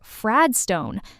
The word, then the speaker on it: Fradstone: Sarah says Fradstone. That's f r a d s t o n e, spelling it out letter by letter. Be careful. There is an e at the end, so don't miss it.